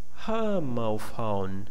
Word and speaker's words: homophone: Okay, here we have two different kinds of stress too. The first one is the major, okay, because it's very stressed, and the second one, phone, is stressed too, but less than the first one. And in the middle we have a weak syllable.